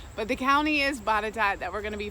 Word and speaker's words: Botetourt: question a lot they'll say wait you said bottata but is this the same place because it's like butter tart that i see it is an unusual spelling but the county is bottata that we're going to be focusing on today